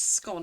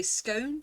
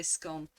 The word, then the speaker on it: scone: So for me, it's scone. It rhymes with gone. But some people say scone and rhymes with bone, but I would say scone, the hard O.